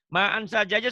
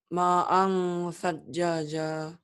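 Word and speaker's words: مَاءً ثَجَّاجًا: Ma'an sajjaja salah baca begitu harusnya. Ma'an satjaja. Ma'an ditahan ya. Ma'an sajjaja. Ulang. Ma'an satjaja.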